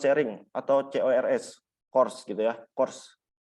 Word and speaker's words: CORS: Cross Origin Resource Sharing atau CORS gitu ya, CORS. Dibacanya CORS.